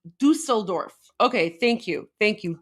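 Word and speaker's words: Düsseldorf: This is Dusteldorf. This is Dustelorf from today. My heart shall foreign. Okay, I stand corrected. It's pronounced Dusseldorf.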